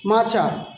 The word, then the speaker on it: মাছা: মাছা। ঠিক আছে? মাছকে আমরা বলব মাছা। মাছা। ঠিক আছে? একটু টানবেন শব্দটাকে।